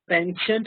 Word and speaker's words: penchant: he was very interested this word is pronounced pensent or P I think we have